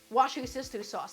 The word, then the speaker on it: Worcestershire: Wash your sister sauce, that's right.